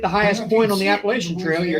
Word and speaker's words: Appalachian: Trail before I guess the proper pronunciation is Appalachian I always thought that sounds kind of funny it's always an Appalachian